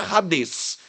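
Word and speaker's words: Hades: Na verdade, a pronúncia seria radês, mas ficou rades, ficou mais popular. O H no grego, assim como no inglês, tem som de R.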